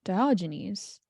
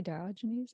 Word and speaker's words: Diogenes: And so Antisthenes has a student, Diogenes, if I got that correctly.